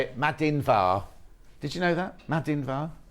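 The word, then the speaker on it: Madainn mhath: you my love how do I say it madin VAR did you know that madin okay right the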